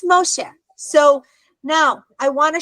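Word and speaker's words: משה: Moses and so the the hey at the end is silent again so it's Moshe so that's one of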